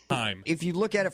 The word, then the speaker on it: HAIM: It definitely is Haim. Haim.